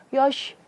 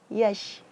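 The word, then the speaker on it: يَشْ: Ya, di sini jangan sampai kita menebalkan ya. Biasanya orang karena terpengaruh huruf sesudah atau sebelumnya, dia bacanya yosh, yo, enggak. Tapi ya, yash, harus senyum.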